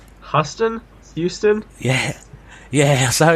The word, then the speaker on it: Houston: was his name custom Houston yeah yeah so in youtube they call it from the US I don't know new it US way of pronouncing things they they have pronounced it Houston so essentially Charlie Houston